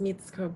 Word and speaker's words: Mitsuko: Reiko and Mitsuko, do you want to do like short introductions? Hi, my name is Mitsuko. I guess the Japanese pronunciation is Mitsuko.